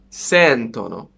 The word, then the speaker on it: sentono: I would say loro sentono. The one before the last vowel.